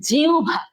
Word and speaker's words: জিহ্বা: তারপরে এই যে আমরা এটা, তোমরা সবাই এটাকে কি বলো আমি জানি না, বাট এটা সঠিক উচ্চারণ হচ্ছে জিহ্বা। সঠিক উচ্চারণ হচ্ছে জিহ্বা। জিউ ভয়াকারে ভা, জিহ্বা, রস্য আর ভ।